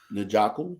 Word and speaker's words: Njoku: So I'm going to go with Njoku.